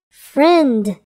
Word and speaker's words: friend: long I sound pint the word friend has a silent eye friend the words wand and